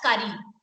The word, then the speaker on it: curry: Sarthak, it's not about R coming twice. First R is silent. Second R, after the second R, the sound is E. The sound is E. That's why you are supposed to pronounce it as curry.